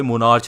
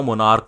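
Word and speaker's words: monarch: कुछ लोग कहते हैं भाई मोनार्च नहीं होता। मोनार्क होता है।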